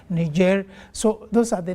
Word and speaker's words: Niger: Of course, some pronounce it as Niger, others as Niger, the French call it Niger.